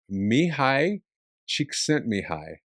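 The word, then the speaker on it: Mihaly Csikszentmihalyi: His name is Mihi Chik sent Mihi. That's how you pronounce it.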